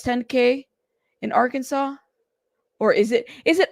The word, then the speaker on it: Arkansas: band stuff you know it's Arkansas see I said it right thank you love Arkansas thank you we used to say Aran well anyways um yeah and people would get mad at us so I'm like okay Arkansas my bad I said it right correctly the first time Oklahoma welcome welcome you